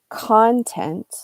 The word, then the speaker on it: content: two different words so if you put the accent on if you highlight the first syllable content content that is what that